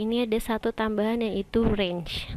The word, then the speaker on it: range: ada satu tambahan yaitu range tulisannya range Tapi bacanya range ya Nah di sini ada